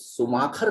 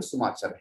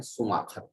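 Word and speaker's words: Schumacher: हिंदी में ई सुमाखर कहते हैं, स्पेलिंग सुमाचर है, लेकिन हिंदी में उसे प्रोनाउंस करते हैं सुमाखर।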